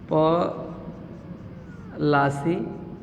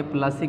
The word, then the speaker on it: पलासी: चूँकि अंग्रेज प्रोनाउंसिएट सही तरीके से नहीं कर पाते थे, इसलिए वो पलासी के जगह पर क्या बोलते थे? प्लासी बोलते थे, इसलिए ये प्लासी के युद्ध के नाम से फेमस हो गया।